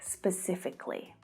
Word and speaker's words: specifically: But when an adjective ends in the k sound, like specific, we don't pronounce the syllable before the ly.